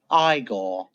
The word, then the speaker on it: Igor: piece of equipment I see you must be eigor now it's pronounced igore so igore and I we decided to get